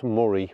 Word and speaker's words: Moray: just how close we are to that um Moray fth and again someone can explain to me as to why it's pronounced muray when it's clearly spelled Mori but anyway um